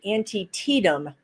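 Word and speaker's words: Antietam: an and oh yeah they they pronounced it for me antium I think is what it's called was a war in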